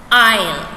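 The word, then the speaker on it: aisle: a-i-s-l-e it's pronounced as isle right though that s is there that letter it's silent okay how do you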